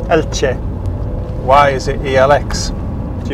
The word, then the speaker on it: Elche: I'm not an expert, but it certainly isn't Elche. It's something like Elche. Elche. There's a sort of a TCH there, isn't there?